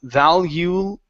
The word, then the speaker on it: valuable: valuable valuable valuable okay now at the very ending of the word you're pronouncing an o saying Valu Bo okay instead of Buu with an oo sound for the L use your tongue to pronounce the L valuable valuable valuable there